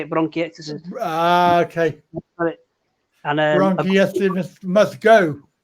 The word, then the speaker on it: bronchiectasis: I've got a lung disease called bronchiectasis. That's how you say it, bronchiectasis.